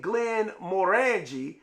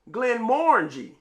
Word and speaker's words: Glenmorangie: Now I used to say Glenmorangie, but I think it's Glenmorangie.